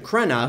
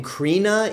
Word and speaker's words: Crenna: played once again by Richard Crenna who I kept pronouncing his name Carina in the review for first blood so I apologize for